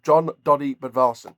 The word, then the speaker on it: Jón Daði Böðvarsson: Bas John B uh John doy bvars um that's the way to pronounce his name um but love the